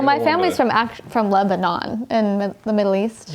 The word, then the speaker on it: Lebanon: I need to go how do you say it Lebon or Lebanon Lebon I say Lebon but I'm born and raised here so so he's the you